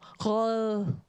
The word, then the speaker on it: rød: You never really say, like, the D is very soft. D is like, when I was in language school, you had to pronounce it with sticking your tongue out to have like a L sound. So roll.